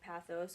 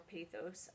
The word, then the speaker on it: pathos: those are logos ethos and pathos or pathos you can pronounce it either away and the cool thing